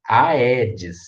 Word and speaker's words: Aedes: o primeiro aí é do aedes ele é separado ele é um hiato né então você vai falar aedes agora o segundo a